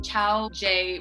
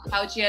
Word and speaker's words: Chaojie: Chow-Jay would be the American pronunciation of That's the like American pronunciation, yeah. Chaojie is the more authentic Chinese.